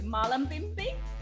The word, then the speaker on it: Mullumbimby: Mullumbimby.